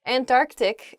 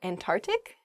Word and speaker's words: Antarctic: hyperbole next Antarctic not ah oh I see Antarctic is the correct pronunciation of this word some people say and and tart and tart ick really oh I guess when you're saying this